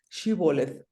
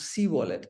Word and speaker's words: shibboleth: Jordan River, the Galileans asked them to pronounce the word shibboleth, they will pronounce sibolet, and at that time they will be killed at the moment of crossing borders.